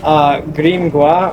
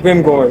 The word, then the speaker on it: Grimgoir: Grimgoir or Grimgoir, you can say that.